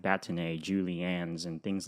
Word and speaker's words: bâtonnet: That is a bâtonnet.